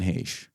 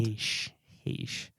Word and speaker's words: Heche: If you saw her, there's no way that's how her name is spelled. Heche.